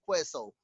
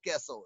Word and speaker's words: queso: It's not Big Queso. It's Big Queso. It's in Spanish.